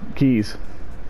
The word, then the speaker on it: quay: Alright, Quays, Keys, we'll call them Keys, that's what I keep hearing online. It's spelled Q-U-A-Y, but we'll call it Keys.